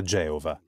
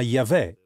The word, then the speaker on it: Geova: Prima di tutto chiariamo Perché usiamo la pronuncia Geova Forse perché la pronuncia più simile a quella originale no usiamo il nome Geova perché è ampiamente attestato è vero alcuni